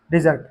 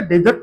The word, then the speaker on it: dessert: इसका जो प्रोनाउंसिएशन है ना वो ध्यान रखिएगा, डेजर्ट नहीं होता, डीजर होता है। क्या होता है, डीजर, डेजर्ट नहीं होता है, इसका मतलब होता है डीजर, है ना।